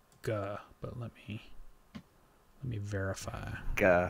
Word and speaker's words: Guh: I think it's Guh, but let me verify. Guh. What kind of name is Guh? That would be a... Spell that.